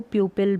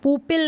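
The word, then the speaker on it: pupil: प्यूपिल का मतलब है छात्र या स्टूडेंट होता है, उसको प्यूपिल भी बोलते हैं। अब इसको पुपिल नहीं पढ़ेंगे, प्यूपिल। अब इसको म्यूजिक नहीं पढ़ेंगे, म्यूजिक।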